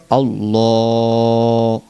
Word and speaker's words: আল্লাহ: লাম কারা জবর লা আল্লাহ শব্দটি কিন্তু মোটা করতে হবে আল্লাহ শব্দের লামের পূর্বে যদি জবর অথবা পেশ হয় তাহলে ওই লামকে মোটা করতে হয় অতএব আল্লাহ শব্দের লামটাকে মোটা করে বলতে হবে এভাবে